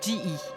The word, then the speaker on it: GE: En anglais, ça se prononce G.